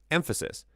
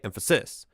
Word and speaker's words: emphasis: Remember, in many words, each word has an emphatic syllable, a syllable where you place more emphasis than others. So, for example, the word emphasis. You don't say emphasis You don't say emphasis. You say emphasis.